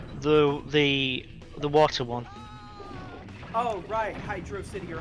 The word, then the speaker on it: Hydrocity: City or hydrosity yeah I know it's supposed to be Hydro say I've always pronounced hydrosity I don't know why I've always said hydrocity it's like it's clearly meant to be a water city right yeah like I